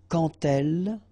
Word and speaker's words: quand elle: So like that, quand elle. All right, same rule here. Remember, when you will have this D, you will phonetically pronounce it like T.